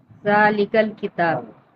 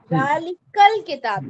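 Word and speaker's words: ذلك الكتاب: लेकिन जब उससे पहले एक वर्ड आ गया जालिका, तो अब हम कैसे पढ़ेंगे? जालिकल किताब। जालिकल किताब।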